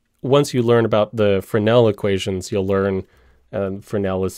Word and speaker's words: Fresnel: And unfortunately, because the guy was French, it's spelled Fresnel. Or I guess you could say unfortunately because I'm American, I just read it wrong.